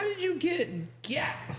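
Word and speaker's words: gyat: it's a big booty pronounced like Yachts but with a G why what when they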